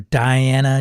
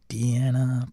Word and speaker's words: Diana: out um let's see we're on Indiana Jones or Diana Jones I guess if you want to pronounce it that way I say Deanna because it's from Indie